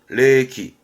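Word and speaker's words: 冷気: 레기, 레기.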